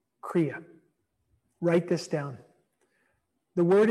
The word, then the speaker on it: Kriya: On a daily basis, treat your body to some stretching, some breathing, and what we call Kriya. Write this down. The word is spelled K-R-I-Y-A.